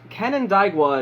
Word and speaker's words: Canandaigua: She was raised in, I believe it is pronounced, Canandaigua, New York, her family moving there not long after she was born.